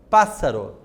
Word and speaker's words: pássaro: Observe aquela regrinha, quando eu tenho 2 S's ou 2 R's dentro da palavra, quando eu vou separar a sílaba, o que eu faço? Eu separo aquelas 2 letrinhas iguais. Então, fica lá, paz, então, primeiro S, sa-ro, Então, o paz é acentuado por ser a antepenúltima sílaba.